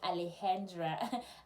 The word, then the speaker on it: Alexandra: a student called Alexandra when they write it is Alexandra but when they pronounce it remember they speak Spanish it's more like Alejandra so I have to